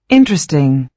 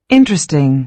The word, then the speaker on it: interesting: Interesting. Interesting. And the stress mark is on the first syllable.